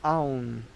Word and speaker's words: aum: But together you have the a and un, you put it together, that'd be aum.